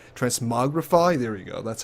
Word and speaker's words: transmogrify: of interesting you can actually do something called trans morifi transmogrify there we go that's how you pronounce it where you can put in an